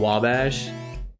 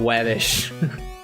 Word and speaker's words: Wabash: Like uh in Chicago there's a street called Wabash. And I used to call it Wabish.